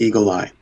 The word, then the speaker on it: Eagle AI: Ai and they said they pronounced it Eagle ey okay I don't know if that's true but that's what I